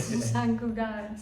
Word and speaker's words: Sant Cugat: His brother moved to San Cugat. How do you say it? San Cugat.